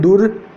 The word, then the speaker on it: दुर्दशा: यह शब्द जो है हमेशा पहले वाली मात्रा पर बैठता है, अगले वाली मात्रा पर बैठता है, लेकिन बोलने पर ये पहले आता है। जैसे दुर्दशा है, जैसे अपन इस शब्द को बोलते हैं तो क्या बोलते हैं? दुर्दशा बोलते हैं। तो इसका प्रयोग शब्द की मात्रा यहाँ लग रही है, लेकिन इसके पहले बोला जाता है इसको।